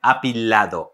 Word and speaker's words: apilado: to show you a beautiful move it's called apilado that you can apply also at the milongas or for performances we pronounce it again apilado a lado and it means leaning but before